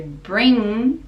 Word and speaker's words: bring: So bring, the NG, the G is silent, and we use the nasal sound and the back of the throat.